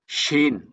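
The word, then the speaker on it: شين: শিনের উচ্চারণটা কিরকম হবে শিনের উচ্চারণটা হচ্ছে শিনের সাউন্ডটা হচ্ছে সাব যখন ভয়ঙ্কর করে রাগ দেয় সাব যখন রেগে দেয় তখন একটা সাউন্ড করে ঠিক না ভাই তদ্রুপ শিনুর উচ্চারণটা ওরকম হবে শিন শিন শিন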